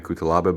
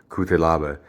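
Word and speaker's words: Cutelaba: won it's ion so people say ayan kutalaba but i think it's pronounced i won kute lava the moldovan fighter who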